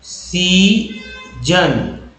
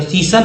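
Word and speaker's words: season: जैसे मैं वर्ड बोलता हूँ सीजन, देखिए SEA को सी बोलेंगे और यहाँ S जो है ज के रूप में उच्चारण हुआ, SON जन, जबकि SON को सन पढ़ते हैं, लेकिन यहाँ पर जन पढ़ा गया क्योंकि ये लिख दिया गया सीजन, एक वर्ड है सीजन,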